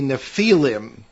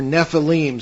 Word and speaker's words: Nephilim: there are references to the nephilim or nephilim sometimes pronounced and these are supposed